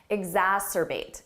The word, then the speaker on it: exacerbate: Ooh, another tricky one for pronunciation. Exacerbate, exacerbate.